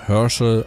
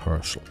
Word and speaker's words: Herschel: hier sehen von wilhelm Herschel also ja jetzt habe ich den Vornamen Deutsch den Nachnamen englisch ausgesprochen das war in